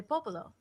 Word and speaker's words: Popolo: as santa maria de popolo home to some of the world's most famous paintings and sculptures i'm glad that she corrected me on my pronunciation popolo cause i said papaya oval okay nah i try